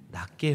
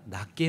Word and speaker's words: 낮게: 빌립보서 2장 3절, 아무 일에든지 다툼이나 허영으로 하지 말고 오직 겸손한 마음으로 각각 자기보다 남을 낮게 여기고. 여러분, 겸손한 마음으로 각각 자기보다 낮게 여기고입니다. 여러분, 발음을 주의하시기 바랍니다. 낮게가 아니고 낮게입니다.